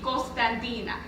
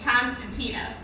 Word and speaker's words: Constantina: am 19 years old in greek you pronounce my name cospandina in english you pronounce my name constantina but most people just